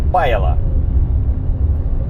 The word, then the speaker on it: Pajala: Так как говорят мне, что ударение всегда на первое, то значит будет у нас Паяла.